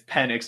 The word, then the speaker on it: Penix: big ones I mean it's penx not penix but I know right